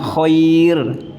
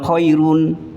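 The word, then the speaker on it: خير: Nah, ini di waqaf bunyinya khair, bukan khairun. Bukan juga khairu, tapi khair.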